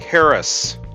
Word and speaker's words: harass: They shifted the accent to the first syllable, sounding like Harris. The Americans preferred the French-style second syllable stress, no doubt further encouraged by the double S.